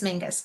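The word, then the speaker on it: Menzies: So don't be mean, but because it's spelled Miz. Yeah. But it's Mingus.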